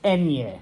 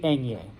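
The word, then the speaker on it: eñe: the Enya all right don't call it an N with a squiggly line even though it literally is an end with a squiggly line its name it's enye it is the enye okay it is alphabetized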